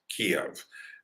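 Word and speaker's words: Kyiv: to want kiev or you might hear some people saying that's the ukrainian pronunciation kiev is more the russian pronunciation and that's why i've heard someone say you know biden couldn't even pronounce kiev he said kiev well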